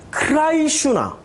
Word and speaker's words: 크리슈나: 구원을 관장하는 신은 크리슈나. 이름도 비슷해. 크리슈나. 미국식으로 발음하면 크리슈나가 아니라 크라이슈나.